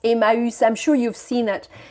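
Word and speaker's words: Emmaüs: BPI in the 50s it was called a mouse it's pronounced a mouse I'm sure you've seen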